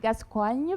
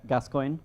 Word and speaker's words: Gascoigne: Because I can do the Frenchy Gascoigne, but I don't know if it's... That's okay. I mean, that's the origin, so maybe it's better. But Gascoigne. Gascoigne?